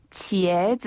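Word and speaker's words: 茄子: 할 때도 입이 벌어지나요 옆으로 쫙 찢어지나요 그것처럼 치에즈 한번 해 보세요 치에즈 치에즈 치에즈 아 우리가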